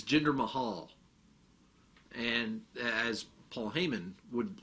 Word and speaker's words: Jinder Mahal: That was how Kurt Angle pronounced it. It's Jinder Mahal, and as Paul Heyman would later pronounce it.